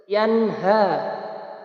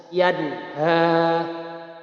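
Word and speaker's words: يَنْهَىٰ: Bacanya harus terang atau jelas. Yanha. Tidak boleh dibaca seperti ini. Yanha. Salah ya. Yang betul adalah yanha.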